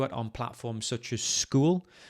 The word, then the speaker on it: Skool: If you want to build your own community of coaching, you can do it on platforms such as School. School is spelled Skool.